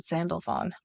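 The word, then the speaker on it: Sandalphon: Sandy fun and who Metatron and sandalfon oh interesting the o-n sound at the end okay there were human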